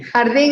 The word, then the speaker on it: Jardín: They call it El Jardin. That's how it's pronounced. Jardin, not Jardin. El Jardin. Jardín. Jardin. Jardin. Jardín in Spanish.